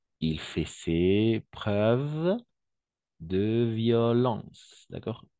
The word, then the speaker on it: violence: L'école l'a exclu, car il fait ses preuves de violence, d'accord? N'oublie pas, O-E-N, E-N, on va prononcer on. Violence.